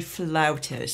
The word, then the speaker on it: flautist: I started on piano but I am a flautist yeah and that's the correct pronunciation in anyway how many